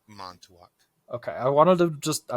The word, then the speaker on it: Montauk: Mantuak, so It's Montauk.